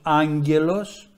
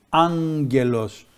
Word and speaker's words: άγγελος: και το άλλο ν το λεγόμενο αγμα που είναι ένα υπερικό ν που τελικά γράφεται με γ και το έχουμε σε λέξεις όπως άγγελος τι ακούγεται εκεί άγγελος αυτό το ν που